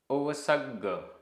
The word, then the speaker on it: ओवसग्ग: ओवसग्ग ओवसग्ग आधा ग पूरा ग। ओवसग्ग परिसह परिसह सहा।